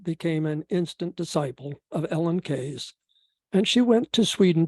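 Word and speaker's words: Ellen Key: by the Swedish feminist Ellen K last name spelled k-e-y but it's pronounced k the book was probably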